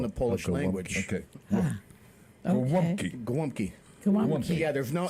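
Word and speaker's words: gołąbki: Yeah, because the L has a slash through it, which is a w sound in the Polish language. Okay. Okay. Golumpki.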